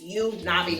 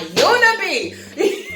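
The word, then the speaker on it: Yoo Na-bi: So that's why I had to pause and say her name is Na'vi. It's you Na'vi, not you, Nabi. You Nabi.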